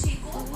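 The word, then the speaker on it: chico: Second हमारा आता है CH, च, जिसको प्रोनाउंस करते हैं च से। जैसे चीको इज a Spanish word, चीको, और इसका मीन होता है बॉय, तो हम इसको चीको प्रोनाउंस करते हैं।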